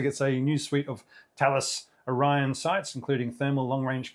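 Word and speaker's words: Thales: Uh it also gets a new suite of Talis Orion sites including thermal longrange cameras. Just for people who are only bit part-time players in this space, Talos is written but it's pronounced Talos.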